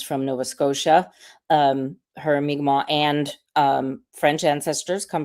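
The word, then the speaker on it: Mi'kmaq: So, so the the feds um call us McMac and and the which mic that's how it's written. Um but Miguma is the Migma Migma Migma is the pronunciation and there are 29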